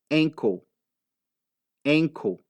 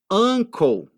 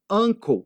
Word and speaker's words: uncle: maioria das pessoas fazem é o seguinte é pronunciar aquele u como se fosse um é eles pegam e fala ankle ankle que que é enco é uma outra coisa